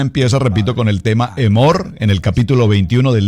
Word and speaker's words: Emor: Escríbalo así como se pronuncia, Emor. Emor, que nos traduce la palabra diles.